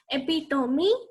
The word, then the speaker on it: epitome: This is not pronounced as epitome or epitome.